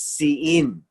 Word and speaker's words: Sinim: the land of Sain," or Sein. This is how it's pronounced. It's Sein.